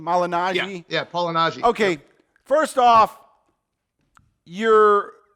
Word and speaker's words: Malignaggi: Yeah, Malignaggi.